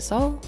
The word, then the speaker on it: Suol: And you have a very close relationship with Suol, as we talked before we started recording. Some people pronounce it Soul.